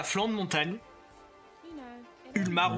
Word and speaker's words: Ulmar: Ulmar. Ulmar, vous le prononcez comme vous voulez. Ça s'écrit Ulmar en tout cas. U L M A R.